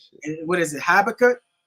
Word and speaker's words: Habakkuk: know that what is it habakkuk habakkuk yup a backup two and two man yeah